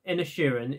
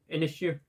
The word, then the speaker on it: Inisherin: Coming at number 6, we have the newest Martin McDermott film, The Banshees of Inisherin, if that's how you pronounce his name. Inisherin, not Ed Sheeran.